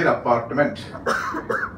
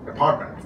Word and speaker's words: apartment: syllables, and then say apartment. But actually, it's pronounced how? Apartment. It's apartment. So in English, every word has a graph. Whereas in Malayalam or Hindi, all syllables are equal.